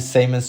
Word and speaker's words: Symon: It's SymonSCR. It's Simon. I do pronounce Simon always.